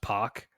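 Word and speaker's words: Pak: pack it's actually pronounced poac so they put p o c k in parenthesis rhymes with rock another good one uh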